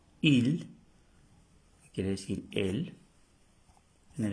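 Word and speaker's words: île: con el acento circonflex quiere decir Isla IL se pronuncia IL IL y esta palabra también tiene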